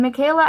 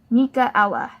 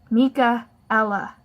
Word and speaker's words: Micaela: So, I've been Michaela ever since. Except, that's not how you say it. You say it like this. Mika-ella. Mika-ella.